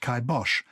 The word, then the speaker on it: kibosh: and bash meaning death but pronounced kai bosh kai rhyming with i and bosh rhyming with the german name bosh so is is he